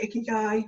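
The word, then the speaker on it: 生き甲斐: If you're not sure what your goals are, take a look at the Japanese concept of ikigai. I probably butchered that pronunciation.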